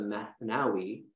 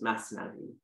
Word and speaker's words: Masnavi: find written as the math nowi which is really just it's more of an air it's an Arabic recitation of the word masnavi but Rumi was Persian speaking he was Persian background